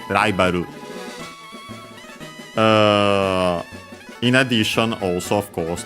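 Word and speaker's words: ライバル: Japanese R usually pronounced as a tap flap, so Ru, Ra, like in our case, Raibaru.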